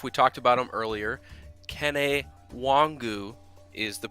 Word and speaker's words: Kene Nwangwu: Kene Nwangwu is the pronunciation, and Ryan, I have him at over or under 4.5 touches on offense this weekend.